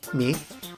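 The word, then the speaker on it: 御: The term consists of O, here pronounced mi, an honorific prefix denoting great reverence, and tsukau, which means messenger.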